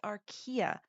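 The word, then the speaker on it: archaea: in this video but do not say ARA it is Aria I didn't think to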